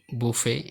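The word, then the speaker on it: buffet: তোমরা একদম প্রথম কলামে দেখতে পাচ্ছ যে ফরাসি ভাষা হতে উৎপন্ন কিছু শব্দ যেমন বেলে, বুফে, শেলে, ক্রশে, গুরমে, ডিপো, ডিবার। এখানে প্রত্যেকটি শব্দের শেষের টি সাইলেন্ট।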